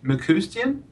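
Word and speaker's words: McCuistion: by Christopher Carter Michael I think mccoustian that's how you say it correctly Lolita ritmanus and Shirley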